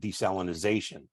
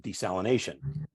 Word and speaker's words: desalination: I've already heard uh someone mentioned desalinization while that's acceptable it's kind of an archaic way of pronouncing it uh it primarily uh European pronunciation that's pretty much Fallen by the wayside it's so I I don't usually correct people but I just if you want to sound like a true desalter as we call ourselves uh we we pronounce it desalination and the the uh